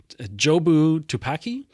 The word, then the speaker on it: Jobu Tupaki: jobu tupaki how do you say it again jobu tupaki jobu tupaki yeah I think maybe um but